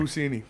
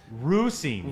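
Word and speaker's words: Russini: Pusini. Does it? The Pusini. It's Diana Rossini. You sure? Oh, You yeah.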